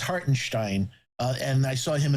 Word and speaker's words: Hartenstein: now all right cool it's like Frankenstein so it's heartenstein uh and I saw